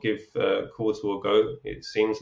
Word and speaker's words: Qortal: I guess where can people find you and Qortal itself, all the links and everything else? Yep. So, Qortal is spelled no U. There's no U in Qortal. It's like portal with a backwards P, right? So Qortal.